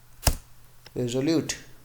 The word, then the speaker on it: resolute: Resolute, ठीक है, इसका प्रोनाउंसिएशन सुनो। resolute, resolute, रेजोल्यूट, resolute, रेजोल्यूट। resolute, ठीक है, तो प्रोनाउंसिएशन याद रखो, रेजोल्यूट।